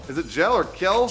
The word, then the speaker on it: Kjell: Yeah, Tim Gel. Is it Gel or Kel? Kjell.